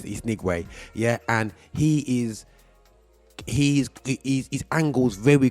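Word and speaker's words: Nwigwe: I was saying the Wingate for years, but it's Nigwe, yeah?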